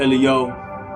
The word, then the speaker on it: L.E.O.: I go by the name of L.E.O. That's 3 letters. Pronounce those letters.